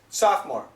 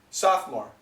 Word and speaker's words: sophomore: the spelling the spelling is sopore but the pronunciation is sophomore sophomore sophomore then it's Junior and then it's senior